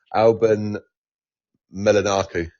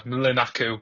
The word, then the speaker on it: Mlinaku: Alan Melanaku. It's not bad. It's not bad. Milanaku is the um is is the pronunciation.